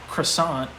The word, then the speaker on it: croissant: right is um okay croissant i would say is how you say it in english but in french you've got to really put the emphasis on the r right right you know and